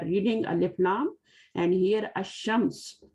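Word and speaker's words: الشمس: Ash-Shams, we are skipping the Lam. So these are called, all letters called Shamsiya, and these are all called Qamariya. In Al-Qamar, we are reading Alif, Lam, and here Ash-Shams, we are skipping the Lam.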